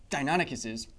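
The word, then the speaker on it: Deinonychus: Dionicus is Dionicuses live in the entire history of dinosaur paleontology. So Dionicus here correct pronunciation as many of you have told me would uh stand about this height to you.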